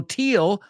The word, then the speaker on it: teal: and sheep same thing so teal rhymes with real it rhymes with meal it's not teal teal it's a quick sound sometimes we extend it sometimes we don't in this case we don't teal rhymes with steel rhymes with deal rhymes with peel rhymes with feel all right excellent job